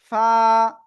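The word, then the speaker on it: ف: নিচের ঠোটের পেট উপরের দুই দাতের আগায় লাগাবো। লাগিয়ে আমরা এ অক্ষরটা উচ্চারণ করব। এক আলিফটা নিয়ে কয় আলিফ? অনলি এক আলিফটা নিয়ে আমরা এই অক্ষরটা উচ্চারণ করবো। ফা ফা ফা ফা প্লিজ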